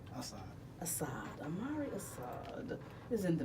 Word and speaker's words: Asad: Hey, pronounce the last name. Asad.